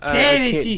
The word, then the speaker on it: Dereshi: Dere she something like that. Dere she. Dere she. Yes. It was gross because it started with a D and it kept going with SH sounds.